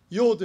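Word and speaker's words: יוד: 요드 해보세요. 요드. 어떤 사람은 유드라고 읽어요. 근데 그냥 유드 하세요.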